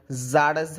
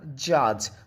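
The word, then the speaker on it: judge: তারপর জারজ হবে না। জাজ।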